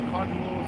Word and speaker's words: colloidal: You got the silver, I think it's colloidal silver. That's how you pronounce it?